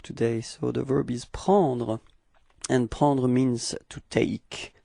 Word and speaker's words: prend: Il, we get il prend. Okay, so same pronunciation. Final D is not pronounced, so it's only the P-R-E-N, prend.